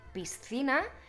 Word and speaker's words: piscina: el sonido ce pero el problema viene cuando hay que pronunciarlo al lado de la s el truco más fácil es dividir la palabra justo en ese punto entre la s y la ce para decir piscina intenta